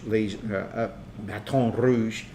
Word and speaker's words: Baton Rouge: Forget the name, Baton Rouge, Baton Rouge, I think There you go. would be the French pronunciation of that.